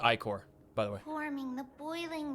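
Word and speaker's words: ichor: upon their shoulders golden acor spills under the land that word is pronounced ior by the waying the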